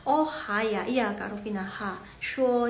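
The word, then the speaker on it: 说: Shuo, ini bacanya shuo. Shuo itu berkata yang berhubungan dengan mulut.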